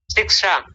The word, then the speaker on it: शिक्षा: में क्या कहते हैं शिक्षा शिक्षा देखिए आप अभी भी गलत बोल रहे हैं शिक्षा शिक्षा शिक्षा मूर्धन्य शकार का उच्चारण जब तक नहीं आएगा तब तक इसका उच्चार उच्चारण आप ठीक नहीं कर पाएंगे।